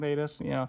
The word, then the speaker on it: Theta: What if Thetas Protocol, did I say it right? Woo! Project Thetas. Hashtag Project Thetas. There's no S. It's Theta.